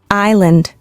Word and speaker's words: island: And island. S is silent.